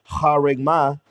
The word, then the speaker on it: charagma: The proper way to say it is charagma.